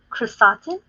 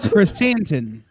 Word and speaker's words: Chrysanthemum: Chrysotin. I believe it was Chrysotin. KRR and then Satan. I don't know how to pronounce that one either. So. Chrysanthemum.